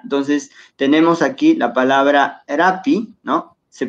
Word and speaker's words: rapi: Y la pronunciación de las palabras, como dijimos, creo que en la primera clase, siempre va a ser, casi siempre, en casi todas las palabras, es grave.